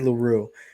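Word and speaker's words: Leroux: Sydney LaRue.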